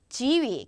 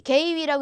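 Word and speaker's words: 给予: 지위, 개위라고 읽으시면 안 됩니다.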